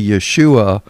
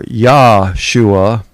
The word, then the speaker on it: Yeshua: And there's a whole lot of people that'll tell you, well, you know, that's not how the Jews pronounce that name. They say Yeshua or Yahshua.